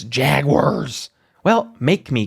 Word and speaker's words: Jaguars: It's not Jaguars. It's Jaguars."